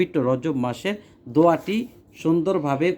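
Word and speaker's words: رجبَ: আসছে কোথায় রজাবা আসছে তো এটা গয়রে মুনসারিফ এটা পরিবর্তন হয় না এটা রজাবা রজব মানে রজাবাই থাকে তো আপনি গয়রে মুনসারেফ জবরের হালতে সবসময় জবর হয় এজন্য ফি রজাবা উচ্চারণের সময় আপনি রজাবা বলবেন রজাবিন বলবেন না যদি এখানে রজাবিন আছে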